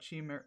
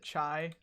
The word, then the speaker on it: chi: or what have you am I am I saying it wrong is it chai I don't really I've never heard that phrase I'm not going to lie to you sorry Chi okay it is chi okay oh I still